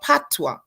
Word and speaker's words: Patois: we began to speak what we call Patois it's spelled p-a-t-o-i-s so we spoke Patois